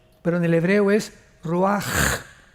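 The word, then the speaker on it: רוח: h, que se pronuncia roach, pero en el hebreo es roaj. La ch en el hebreo es como J.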